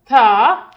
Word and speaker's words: the: Vowel से पहले आपने इसको थी प्रोनाउंस करना है, थी. और कॉन्सोनेंट वर्ड से पहले आपने इसको प्रोनाउंस करना है द. Tha and the.